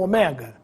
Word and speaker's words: omega: é com acento necrópsia Ômega ou Omega a última letra do alfabeto grego pode ser Dita e escrita de ambas as formas mas se quiserem impressionar utilize a forma com assento na palavra ômega o assento tem preferência ortoepia ou ortoépia